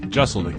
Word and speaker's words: Jeselnik: Jeselnik, yeah. Jeselnik? Yeah. What did I say? Jeselnik. Yeah, people will hit the Z on it a little bit, which is fine.